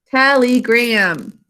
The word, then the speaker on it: telegram: Telegram. E does not say its name because it's in an unstressed syllable.